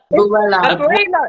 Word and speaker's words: Abuela: Abuela. It's the way that I pronounce the U's.